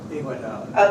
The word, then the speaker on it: Iguodala: Iguodala.